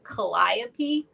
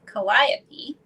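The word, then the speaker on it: Calliope: and her name is I believe you say this kopy I think I think that's how you pronounce c a l l i o p e kopy so I love this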